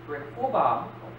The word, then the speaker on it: Rehoboam: The end result was that his son, Rehoboam, that's how you pronounce it, became the most violent ruler ever,